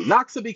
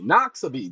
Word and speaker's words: Noxubee: Noxubee County, Noxubee. Go ahead and learn how to spell it.